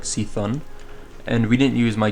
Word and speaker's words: C'Thun: Like, I never heard anyone say C'thun, and I always assumed that the normal pronunciation was C'thun. And then, when Hearthstone released its Whispers of the Old Gods quest, uh or not quest, expansion, I was like, oh, it's actually C'thun, not C'thun.